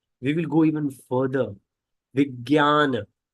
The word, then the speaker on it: Vijnana: Vijnana. It's so J. So it says Vij. J is pronounced as Gya, not Ja, Gya.